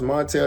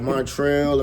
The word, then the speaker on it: Montel: for some reason like people can't pronounce Montel they be like Montrail or motel or whatever so I'm like bro